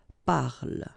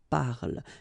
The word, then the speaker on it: parle: So elle parle, parle. And then the last thing here that you will hear is the l, l. Okay, so here is not pronounced and it's not pronounced here. You don't say elle, but then you say elle, elle.